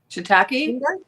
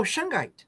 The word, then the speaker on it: shungite: admit I got some how do you say it I can never say it right shentu no the stone oh shungite oh shungite thank you um love